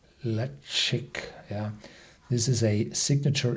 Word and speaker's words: Ledaig: are expressive in nature pronounced le chic le chic yeah this is a